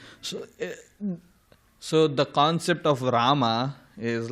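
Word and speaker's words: Rāma: Rama means enjoying and rama the the the first a that that's like a double A. If you see it's a the A is like dashed on the top and in Sanskrit if if if if a A or any syllable that has a extra line on top that's like elongated. So ah it's rama.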